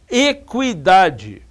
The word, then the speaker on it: equidade: Se eu digo, por exemplo, equidade, vai ser e k u i.